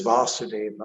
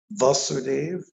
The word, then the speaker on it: Vasudev: the the son of vasudeva um so we won't get confused about that there's a vasudev and there's vasudeva there's a different in difference in the pronunciation so dave is krsna's